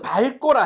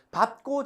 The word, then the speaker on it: 밟고: 우리는 밝고라 해. 근데 원래 표준 발음은 밥이야. 선생님이 지민이를 밥고 지나갔어.